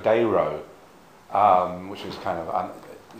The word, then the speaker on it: Dero: pronounced d i mean most people now seem to pronounce diro but he actually pronounced Zero's dero um which is kind